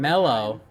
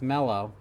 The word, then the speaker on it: Mellow: I do it every Mellow. time. Milo. It's Mellow. I thought it was Milo. He just says here, it's mellow like yellow, mellow yellow.